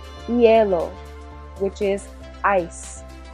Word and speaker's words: hielo: H, remember our H is silent, so repeat. Hielo. Hielo, which is ice.